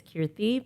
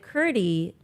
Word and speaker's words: Kirti: to say my name it's kiry but like with a th but not a th right but but like a lot of non-indians would be like ctie right C and ctie in the language that